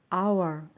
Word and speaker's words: hour: Hello everyone, don't pronounce the H әріпін айтпайтын жағдайлар. Hour, сағат.